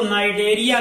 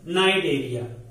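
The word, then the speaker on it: Cnidaria: Coelenterata को नाइडेरिया कहते हैं, सी साइलेंट है, नाइडेरिया।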